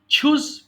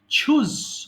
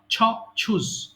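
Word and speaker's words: choose: বিট বিট বিট হ্যান ছুজ পছন্দ করা ছুজ উচ্চারণটা খেয়াল করবেন হ্যাঁ এটা কিন্তু চুজ চ নয় ছ ছুজ পছন্দ করা ছুজেন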